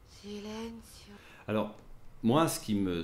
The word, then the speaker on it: Silencio: commence ici voilà sileno le mot Silencio est prononcé sileno alors moi ce qui